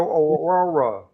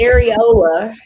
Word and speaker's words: areola: I saw your overall rug. Your overall rug. First of all, you don't even know how to say it right. It's Areola.